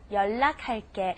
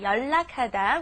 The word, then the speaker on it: 연락: Okay, here's a word that I find lots of people, they can't spell it or say it because it doesn't sound like the way it's spelled. Okay, 연락하다, which means to contact someone. Steven, what's going on with this spelling here? Yeah, I used to always want to Yeah. say 연락. No, 연락.